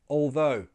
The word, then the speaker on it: although: Many people find this difficult to pronounce, but it's easy because, again, the tongue is already in a good position to go straight into the th sound. Although. although. It just comes forward a little bit.